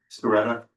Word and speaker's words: Sciaretta: Is that the right way to pronounce it? Sciaretta, okay.